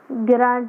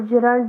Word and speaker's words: gerund: Last time मैंने सिखाया था, GERUND, गिरांड या फिर जिरंड, जो भी आप लोग इसको प्रोनाउंस करते हो।